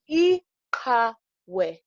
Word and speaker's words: iqhawe: Ihawe.